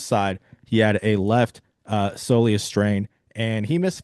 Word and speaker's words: soleus: We since have gotten an update, and he actually did sustain a right soleus. How do you pronounce that? Soleus.